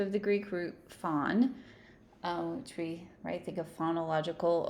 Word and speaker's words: phon: So whenever we're hearing that root phon, or sometimes pronounced phone, we're thinking of sounds.